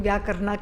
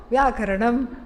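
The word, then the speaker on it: व्याकरणम्: I'm glad nobody is saying Vyakarna, Kya Karna. Nobody is saying that. I'm happy. So, Vyakaranam, grammar. And then Shiksha, Kalpaha, Vyakaranam, Chandas.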